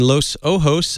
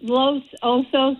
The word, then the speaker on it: Los Osos: Well, it's Los Osos. It means the Bears.